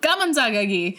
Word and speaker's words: Gameunjang: Gameunjang. Cool. We did it correctly. You're gonna hate our pronunciation throughout.